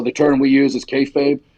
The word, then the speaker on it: kayfabe: So the term we use is kayfabe. It's kind of out there now. Everyone knows that's like keep the secrets of wrestling. I didn't know how to pronounce it. I used to call it kafabi.